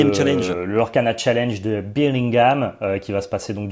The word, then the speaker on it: Birmingham: Je me disais, putain, il le prononce bizarrement quand même. Birmingham.